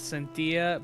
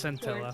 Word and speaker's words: Scintilla: Royal says, okay, before I go, I keep reading Scintilla as Cintilla because my brain immediately reads it as Spanish, like tortilla. Tortilla, so it's Scintilla.